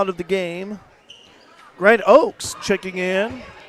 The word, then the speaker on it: Oaks: play to foul out of the game Grant Oaks checking in O HS it's pronounced Oaks Landon harelson up at the free throw line